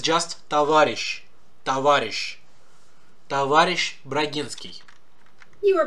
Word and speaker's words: Товарищ: Also, see that spelling, S-H-C-H, it comes from, it's not how we read it anymore. In some Slavic languages, it still is pronounced like that. Товарищ, борщ, everything with sh is pronounced with sh, or sh, because that's what the letter used to be like.